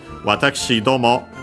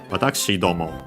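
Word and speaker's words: 私ども: Watashi domo. So yeah, the accent is on the do. Watashi domo.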